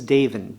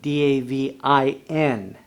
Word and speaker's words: Davin: My name is Davin, D-A-V-I-N, Davin, just like David, but with an N.